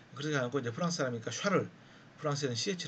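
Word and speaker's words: Charles: 완충 할수없지 인데요 그렇게 않았고 이제 프랑스 하니까 샤를 프랑스의 ch 를 언어 샥 어그 sch 발음이 납니다 살을 쓸어 롤로 란게 있는데 이것은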